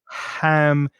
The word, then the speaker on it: ham: Make sure the pronunciation of ham is just from soft. the mouth and not from the throat.